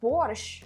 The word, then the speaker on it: borscht: And let's try borscht. Borscht time. You're pronouncing it so good.